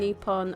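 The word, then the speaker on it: Nippon: put a comment in apparently Nihon and nepon are the proper names for Japan Japan gets its worldwide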